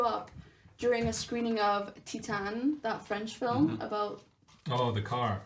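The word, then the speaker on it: Titane: it's a great movie it's pronounced Titan but whatever um it's a very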